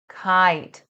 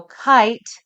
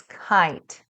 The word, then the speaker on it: kite: I spy, kite, fly, bright. Remember, the most important thing is the vowel sound. So kite has a long I sound, not a short I sound. Kit, it's kite.